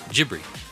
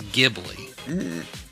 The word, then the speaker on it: Ghibli: Japanese phonetics, which is Ghibli, or Okay. Ghibli. He goes, but the correct Italian pronunciation of the word is Ghibli.